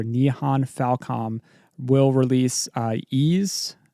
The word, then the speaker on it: Ys: Now NIS America and developer Non Falcom will release uh Ease that's spelled YS Ease10 Proud Nordics in just a few days.